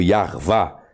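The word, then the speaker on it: Yahweh: Aí coloque o de Revavirreu, Yarvá, seria a pronúncia mais adequada para o tetragrama.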